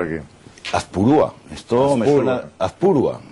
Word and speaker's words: Azpurúa: Azpurúa. Ah, pues me han puesto el acento en el otro sitio.